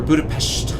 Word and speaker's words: Budapest: Or Budapest, I think, as the locals pronounce it. They have some way of pronouncing it.